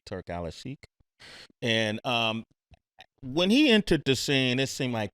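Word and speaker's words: Turki Alalshikh: the scene and let me say it correctly, Turk Alashik.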